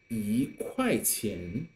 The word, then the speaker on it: 一: When E is used before other three tones, it's pronounced as the fourth tone.